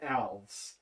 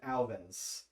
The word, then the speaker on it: Alves: my key name but the last name is alves and i have had so many people pronounce it alvin's um to the point where like fool like alva elvis yes i think it's